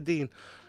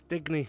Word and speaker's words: Digne: I can never say no, Luca Dean. I always pronounce Digny, but I always call him that.